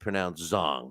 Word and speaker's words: Zhang: Zhang going up against, it's actually pronounced Zhang. I keep forgetting that I was corrected.